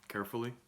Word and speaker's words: Caerphilly: for you guys uh a little hard to pronounce it's got some weird spelling but uh carefully it's a traditional welsh cheese it says it's